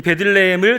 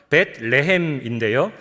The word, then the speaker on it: 베들레헴: 이 베들레헴을 정확히 발음하면 벳레헴인데요.